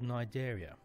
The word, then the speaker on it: Cnidaria: to a group called nigeria the sea is silent which is a word